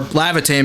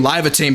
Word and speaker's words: Lavatane: um and Lavatane or Lavitane because I think that's how it's pronounced. But um I kept saying Livotane because there's no I in ae.